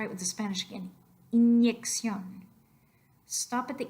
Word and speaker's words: inyección: Inyección. Inyección.